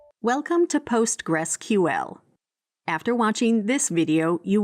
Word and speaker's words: PostgreSQL: This was soon renamed PostgresQL and is today generally pronounced as simply Postgress.